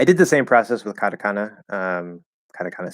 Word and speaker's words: katakana: my my accent there i'm flapping the tea kata kata definitely not the japanese way to say it but katakana um i'm also doing a schwa at the end uh but so i